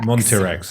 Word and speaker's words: Montirex: Montirex. Okay, Yeah. it is as it looks.